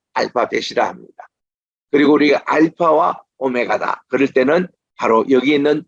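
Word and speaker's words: ὦ μέγα: 크히포시 오메가 그래서 우리는 이게 처음일 때도 그냥 알파 이렇게 아가 길어요 알파 그리고 맨 끝에도 오메가 이게 깁니다 그래서 나는 알파와 오메가 갈 때 에고 에임이 호 알파 타이호 오메가 이렇게 해서 알파와 오메가를 그리고 오메가 내가 오메가 시계다 아니에요 오메가 오가 깁니다 그래서 이제 헬라어 제대로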